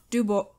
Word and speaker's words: Dubois: highway man okay robert dubois robert dubo mm-hmm b-o-i-s it's probably french so you don't probably pronounce the s so i don't fair